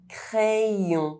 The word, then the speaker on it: crayon: followed by a vowel: yoga yoga Y is pronounced [j] when between vowels: crayon pencil When you see the letter Y between